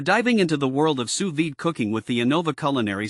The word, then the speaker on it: sous vide: If you're new to this cooking technique, sous vide, pronounced sous vide, involves cooking food in a temperature-controlled water bath.